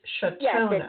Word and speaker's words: Chautona: Now, wait, did I pronounce it right? Because I see it's Shatona. It's Shatona.